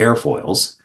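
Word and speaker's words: aerofoils: in this case it's spelled a e r o f o i LS pronounced air foils and when I was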